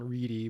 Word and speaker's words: Ready: can find him again he says sean reedy but it is spelled ready and he always says like i was born ready right so it's sean ready